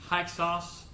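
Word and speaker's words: Hyksos: take some cities and I think you pronounce this name hexas h-y-k-s-o-s is a people they come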